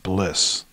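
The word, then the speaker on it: Bleass: So Jordan Rudess has a bunch of apps out through Wisdom Music, and before he made a deal with Bliss, they're spelled like Bliss, B-L-E-A-S-S, with the new version of this.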